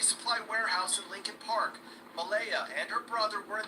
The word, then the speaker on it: Malia: The little girl's name is Malaya, and it's spelled Malia.